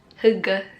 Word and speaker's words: hygge: Hygge, that's how you pronounce it.